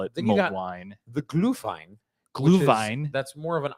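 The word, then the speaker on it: Glühwein: the glue wine or the mulled wine so gluvine is actually the German pronunciation yeah so you got mulled wine which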